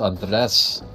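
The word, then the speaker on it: Andrés: I like how you're the only person who, stresses the freaking vowels for his name. Because I'm half Spanish, I can say that, and he corrected me once, so I'm not gonna fucking forget it. Yeah, man, it's pronounced Andres.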